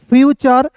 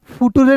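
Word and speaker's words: future: फ्यूचर फुटरे नहीं पढ़ेंगे।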